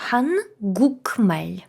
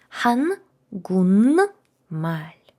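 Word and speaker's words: 한국말: Написано хан гукмель. У. К нам дуже-дуже псує вимову цю м'яку. Після неї йде м, перед нею теж н літера, це вже не так важливо. Хангунль. Хан гун маль.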